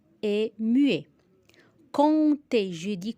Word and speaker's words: compter: Compter. Je dis compter, je dis pas compter. La lettre P est muet.